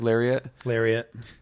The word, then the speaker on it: Lariat: Darkest Lariat? How do you pronounce that, Craig? Lariat.